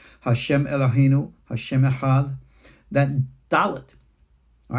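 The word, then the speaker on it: דלת: The next one is the letter Dalet. This gets important. Dalet D. But the other pronunciation of a Dalet is like a TH in the word the.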